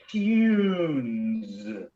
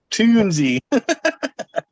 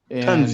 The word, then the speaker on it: Tunze: You know, Yeah, I'm sure the it's not tunes. Tunze. our company, the founder was Norbert Tunze, Tunze.